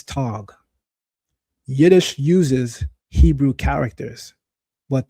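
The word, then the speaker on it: טאג: The Hebrew word for day is yom. The Yiddish word for day is tag.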